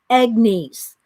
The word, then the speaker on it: Agnes: to introduce you to egg nice and it's spelled IG and is and she says it's pronounced egg like you know like an egg egg nice okay hello miss didi